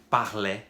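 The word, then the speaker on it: parlaient: É a mesma pronúncia das três primeiras aqui. Je parlais, tu parlais, il parlait. Só a escrita que é diferente, que tem esse final aqui, A-I-E-N-T. Então o AI ali, né, que a gente tem como meio que igual aqui para todos, a gente adiciona esse E-N-T. Mas a pronúncia é parlé igual.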